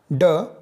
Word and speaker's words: ड: यह मूर्धन्य ध्वनि है। इसके उच्चारण में अंदर से आती हुई वायु जीभ में नोक द्वारा मूर्धा को स्पर्श कर रुकती हुई बाहर निकल जाती है।